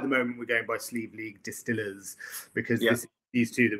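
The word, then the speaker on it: Sliabh Liag: gaelic very very very gaelic name but it's pronounced sleeve league absolutely yeah exactly yeah just listening to the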